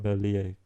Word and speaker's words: Merlier: be on Kuurne-Brussels-Kuurne, then I certainly think that Merlier could take it.